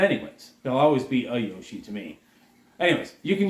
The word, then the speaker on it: Yoshi: I always add an A in front of it. Weird thing that I do call him a Yoshi. He's not a Yoshi. He's Yoshi.